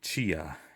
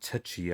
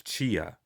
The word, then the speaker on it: Tchia: I'm gonna start with Chia. I think that's how you pronounce it. It's not Tchia. I think the T is silent. It's Chia.